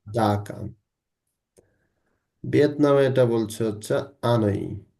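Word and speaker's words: Hanói: ভিয়েতনামে এটা বলছে হচ্ছে আনই। কি বলছে? আনই। হই কেউ বলতে যাবেন না। কিন্তু হার কোন উচ্চারণই হবে না। পর্তুগিজে এইগার কোন শব্দের উচ্চারণ নাই। এইচ এর কোন উচ্চারণই নাই।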